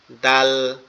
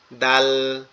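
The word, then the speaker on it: دال: জিহ্বার আগা সামনের দুই দাঁতের গোড়ার সঙ্গে লাগবে, লেগে উচ্চারিত হবে। ঠিক আছে? দাল, দাল, দাল, দাল, এভাবে উচ্চারিত হবে।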